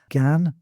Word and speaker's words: gan: Um, the ones I've got particularly in mind are gan instead of go, war instead of our, divant instead of don't, and a instead of I.